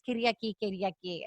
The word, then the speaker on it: Kyriaki: It's Kyriaki.